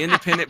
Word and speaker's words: NDPNDNT: It's spelled it has no vowels in it, right? Just like everything else in New Age shit. But it's spelled NDPNDNT. I actually had to fucking read that off while I was looking at it. But it's the Independent podcast.